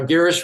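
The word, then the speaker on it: Girish: sure I have it straight I said g geish pron correct I think I sent a voice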